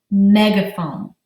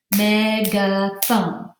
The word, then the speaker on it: megaphone: using one of these, and they are called megaphone. Let's pound out the syllables in the word megaphone. Megaphone, megaphone.